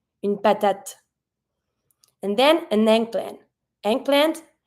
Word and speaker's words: patate: Every time the E is at the end, it's going to be mute. Une patate. You always pronounce the little letter or the consonant that's just ahead of the E. So even if you don't pronounce the final E, you're going to be pronouncing the final T.